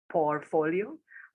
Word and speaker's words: portfolio: And the word portfolio is spelled with a T. So it's P-O-R-T with followed by folio. So not portfolio.